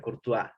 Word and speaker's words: Courtois: histórico casillas se escribe con portugués pero se pronuncia corto pero él estaba de training o tan corto